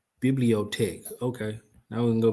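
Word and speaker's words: bibliothèque: Pronunciation. Let me get that first. Pro. There you go. Biblot tech. Bibliotech.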